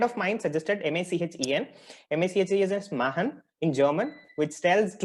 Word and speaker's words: Machenn: adding an end to it so it is pronounced as Mahan Mahan Innovations yeah it was amazing sir according to